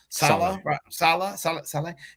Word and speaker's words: Saleh: Salah.